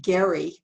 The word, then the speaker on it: Gerry: is from 1812 in massachusetts when governor elbridge gary he pronounced his name wrong created this map of